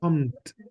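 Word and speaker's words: kommen: Yan please pay attention it's not com it's com there is no e in between I know it's hard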